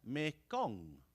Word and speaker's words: Mekong: And down the middle of Southeast Asia, the main river is renamed Ma Ganga, or as it is pronounced in Khmer, Mekong.